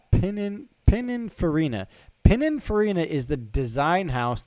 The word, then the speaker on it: Pininfarina: It's Pininfarina. Pininfarina is the design house that designs Ferraris. They designed the Testarossa, the 458. Pininfarina designs all of the Ferraris.